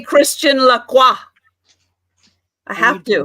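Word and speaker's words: Lacroix: to say it because some people don't know when they say la quacks and it's not quacks the ex is silent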